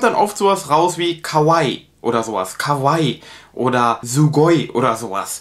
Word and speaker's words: kawaii: man hat das lang es ist kein kurzes ii und das hört man finde ich oft in deutschland dass ankara oder just cavalli sondern das ist also ganz wichtig dass sie wird lang ausgesprochen cavalli wenn ihr das